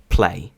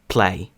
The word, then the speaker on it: play: воно звучить зовсім по-іншому тут Play ще раз тут Play зверніть увагу наскільки сильний йде придих перед звуком одним з найцікавіших звуків